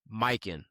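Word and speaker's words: Mykyn: We want to show some love to our first ever sponsor, Mikin. That's spelled M Y K Y N.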